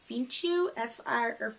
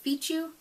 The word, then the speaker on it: fichu: And then there's the ruffled, I think it's pronounced ruffled Fichu, Fichu, F-I-C-H-U, Fichu. Would that be right?